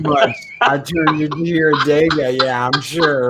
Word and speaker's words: Adega: Adega. I'm saying it right too much now.